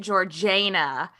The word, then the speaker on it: Georgiana: Georgina it's spelt like Georgiana but apparently they pronounced it georgana um or the cend dishes did because they